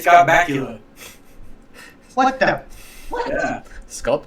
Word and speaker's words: Bakula: I was going to say Scott Bakula. What the? What? Yeah. Scott Well, Bakula. you gotta be a vampire. It rhymes. Sounds like Dracula?